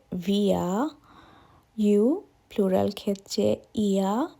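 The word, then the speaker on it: wir: অর্থাৎ এটি V Villa আমরা জার্মানরা ডব্লিউ কে ভি উচ্চারণ করে সুতরাং উই হবে ভিয়া ইউ প্লুরাল ক্ষেত্রে ইয়া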